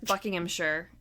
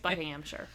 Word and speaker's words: Buckinghamshire: okay in the UK if it ends in s h i r e if that's the end of word it's pronounced sure or sheer yep and then alone